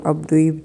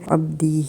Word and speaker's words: عبدی: وہ عبدوی بنتا ہے۔ تو عبدوی چونکہ تلفظ کرنا مشکل ہوتا ہے تو اس لیے عبدی ہی بولا جاتا ہے اور لکھا جاتا ہے، اور یہ اس